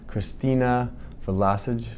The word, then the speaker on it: Christina Vlosich: Today we are at the 2022 NASDAQ conference, and I have a wonderful guest with me, Christina Vlosich.